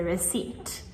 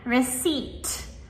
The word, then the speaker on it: receipt: you get is the receipt. Right? So, again, receipt. The p is right before the t, but we only pronounce the T.